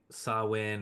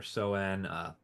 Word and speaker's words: Samhain: so it is pronounced Sawin or Soen. Wonderful, lovely thing. It is not even remotely spelled like that in terms of English phonetics, probably because it's not an English word.